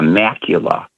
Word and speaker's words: macula: your eye and that island is called the macula. That rhymes with Dracula.